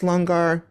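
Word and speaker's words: langar: amazing conversations at the lungar spelled l-a-n-g-a-r but pronounced longar um with the Sikh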